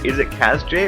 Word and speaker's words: Kaz-J: Also, am I pronouncing your name correctly? Is it Kaz-J, or is it supposed to be like part of a word? The door is always open now. Okay. Well, here's a save room. You're pronouncing it fine.